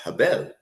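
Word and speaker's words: הֶבֶל: that's born which is uh which is uh Abel but AEL name is pronounced habel in Hebrew you know so the one that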